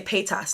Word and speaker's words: Paytas: say I see Trisha Peter some people say Paytas like as in Trisha pay your taxes and I'm like no I said Trisha pay us but everyone has their